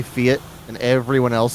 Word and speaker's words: Fiat: And in the UK, everyone's going to pronounce that fiat, not fiat. Wait. Logan and Meg, what is that? How do you pronounce that word? Fiat. Yeah, yeah. That's how I've always heard it. Yeah. Oh, okay. Fiat? Fiat.